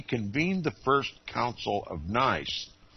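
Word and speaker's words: Nicaea: the First Council of nice that is Nia as some pronounce it dictated the most material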